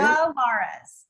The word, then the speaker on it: Malara's: Malara? Is that how you say it? Malara's. Okay. Just like my name, only with a M-A on the front of it.